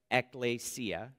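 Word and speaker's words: ἐκκλησία: church into english from greek this greek word ecclesia it is pronounced ekklesia is used 114 times in the new testament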